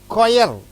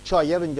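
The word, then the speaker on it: choir: கொயர், இது சொயர்ன்னு சொல்லக்கூடாது, சிஹெச் அந்த கொயர் என்று சொல்ல வேண்டும்.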